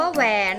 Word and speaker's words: แหวน: ว่า ถนน นะ คะ คำ ว่า แหวน ค่ะ อ่าน ว่า แหวน